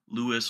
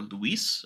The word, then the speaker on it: LUIS: called language understanding or Lewis or Luis I if you're different pronunciations for that I before we get